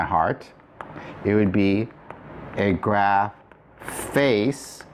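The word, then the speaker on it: ἐγράφης: If you were written on my heart, it would be a graph face. So again, not face, but face. The theta drops.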